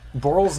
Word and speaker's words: Borl: Borl's name is one syllable.